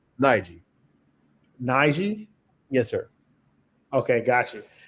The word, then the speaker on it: Najeh: Uh, how do you is it is it Naja? How do you say your name? Nigi.